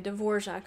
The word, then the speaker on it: Dvořák: Okay, Dvořák. I really mispronounced his name.